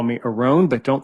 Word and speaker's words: Aron: And then people always say, "But your name's Aaron." I thought I said, "No, it's spelled A R O N." But no, I pronounce it Arone.